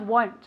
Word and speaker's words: won't: out if it rains very good pronunciation of won't okay will not contract it is won't as if it had a you there okay no i won't